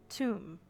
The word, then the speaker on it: Thumb: Thumb pronounced tomb.